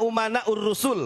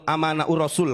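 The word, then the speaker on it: أمناء الرسل: Al-ulama umana'ur rusul. Walaupun si Bahar salah bacanya. Bukan al-ulama umana'ur rasul. Al-ulama amana'ur rasul katanya. Goblok, itu bukan pinter. Bukan amanah, umana, saya benerin ya.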